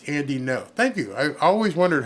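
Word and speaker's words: Andy Ngo: The G is silent, so it's Andy No.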